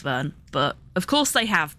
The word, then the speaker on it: Verne: at the end and Vern would have the same vowel sound as in English but the R and S are silent uh there's no s